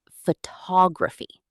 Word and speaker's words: photography: The word photograph versus photography. The stress moves. Photograph, but photography.